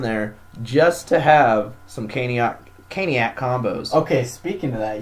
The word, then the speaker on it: Caniac: But I actually asked the lady at the register, what's the proper way to pronounce it, and she said Caniac.